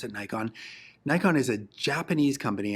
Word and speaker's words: Nikon: called Nikon, or at least I pronounce it Nikon. Nikon is a Japanese company, and the actual proper pronunciation of their name is Nikon.